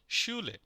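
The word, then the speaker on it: Schule: এস এস সি এইচ এস সি এইচ একসাথে থাকলে উচ্চারণ হবে তাহলে সের মতো যেমন শূলে শুলে শুলে মানে স্কুল ই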